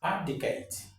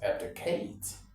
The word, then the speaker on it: abdicate: Number two here is abdicate. Yeah, the stress is on the first syllable actually. Abdicate, not abdicate.